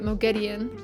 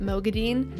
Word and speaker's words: Moghedien: for Wheel of Time, They started pronouncing it Moghedien, and then by the end of the series, we're just pronouncing it Moghedien. And usually, I don't like that. Usually, if there's a change in the way it's pronounced, I'm just like, ugh, whatever. I actually really like both ways to pronounce it.